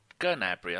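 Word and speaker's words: Gnabry: of Serge nry or gabry I think someone told me you do pronounce the G in ger when you say it in German yeah you do all right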